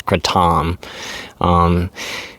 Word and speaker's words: kratom: And what I want to talk about today is Kratom. Or referred to as Kratom. But here in the United States, pretty much everybody refers to it as Kratom. But like I said, I think the actual pronunciation of it is Kratom.